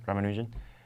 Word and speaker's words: Ramanujan: Ramanujan.